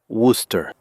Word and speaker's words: Worcester: He found it hard to pronounce at first, Worcester, but with time, he learned that it was said Worcester.